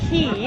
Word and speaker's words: Quay: So those are a brand called Key, is how it's pronounced, and they're an Australian brand, and I love them.